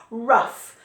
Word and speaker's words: rough: This GH makes a f sound a lot in English. I don't know why. I don't know why, but it does. Rough. So this is rough. Rough. Rough. Rough. But it's spelt R-O-U-G-H.